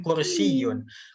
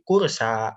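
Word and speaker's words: كرسي: Tapi kalau kursiun tidak dikasih titik 2 di bawahnya, nanti itu jadi berubah bukan huruf ya, tapi jadi alif bengkok. Ya, alif bengkok. Jadi bacanya bukan kursiun, tapi kursa.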